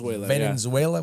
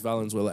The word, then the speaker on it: Valenzuela: Okay, you said his name wrong. No, Fernando Venezuela. That's not it. That's Eric definitely Karros. not it. No, those guys. Yeah, Eric Karros. That's how you say his name, but I'm pretty sure it's Valenzuela.